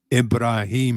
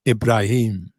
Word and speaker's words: Ibrahim: structures yeah so on on the album is a song called mustafa ibrahim and that's how you pronounce my name so he sang freddie sang mustafa mustafa mastafa ibrahim brilliant solo by brian may so my name is ibrahim you have to